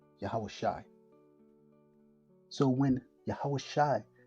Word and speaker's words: Yahawashi: So when Jesus, whose name should have been translated in the New Testament Joshua, but is pronounced in the ancient Hebrew as Yahawashi.